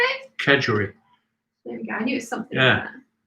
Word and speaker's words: kedgeree: Kedgeree.